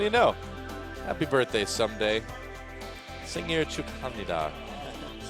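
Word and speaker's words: 생일 축하합니다: Singir Chukhamnida.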